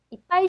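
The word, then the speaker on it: いっぱい: 파, 맨, 첫 글자가 아니기 때문에 쌍비읍 정도 발음이 될 겁니다. 자, 그래서 파, 이가 되겠죠. 자, 작은 쯔 뒤에 오는 글자의 대표 발음, 비읍이 앞 글자, 작은 쯔 앞 글자에 가서 받침이 됩니다. 그래서 읽어보시면 이빠이, 이빠이가 되는 거죠.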